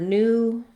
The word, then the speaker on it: new: The word new, as in new versus old, and new as in I knew it. In American English, we have the oo sound. British English uses the new sound.